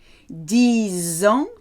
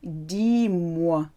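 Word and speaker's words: dix: 10 ans, 10 years, 10 mois.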